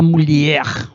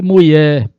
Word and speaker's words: mulher: Em busca desse questionamento da mulher. Cuidado, não pronuncie mulher, mulher, né? Reforça no R e no LH.